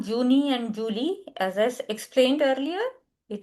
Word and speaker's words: Juli: It is not Julie. It is there July. There Juli. July is there Juli. Many students pronounce it as Julie, which is wrong. It is there Juli. J is year sound.